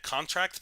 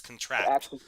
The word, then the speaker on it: contract: heard about it also i keep pronouncing it in my head contract path um just when i read it because that's what i think of first but no it's contract like expand the contract look at a contract